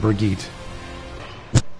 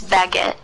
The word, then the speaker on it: Brigitte: I think you pronounce it Brigitte. It's baguette. Baguette? It's baguette. Baguette as in French baguette?